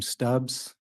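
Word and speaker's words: Stubbs: good afternoon can you state your name and spell it for the record uh first name last name stubs spelling of last is St BBS and uh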